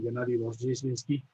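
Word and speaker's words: Gennady Rozhdestvensky: Y luego tuve la enorme suerte de haber sido asignado a la clase del maestro Gennady Rozheshinsky, que no es muy fácil Eso de usted lo pronunciar, pronuncia bien, yo ¿no?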